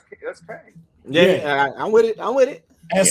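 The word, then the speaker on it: Qeng: It's Q-E-N-G, so that's Kang.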